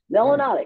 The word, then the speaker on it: melanotic: it's a good one melanotic which rhymes with exotic learn those three terms